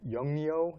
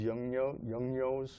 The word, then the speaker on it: Yongnuo: And then I've got the flashes that I use, I try to pronounce them, Yongnuo. Oh, Yongnuo, yeah.